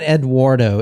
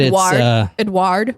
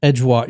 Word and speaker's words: Édouard: No, it's not Eduardo. It's Edward? Edward in America in English. But Edouard. He's French. Edouard. Edouard. Yeah, there you go.